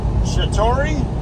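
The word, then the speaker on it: Chattaroy: city in Spokane called Chatori, I think it's pronounced. It's spelled Chattory, I believe.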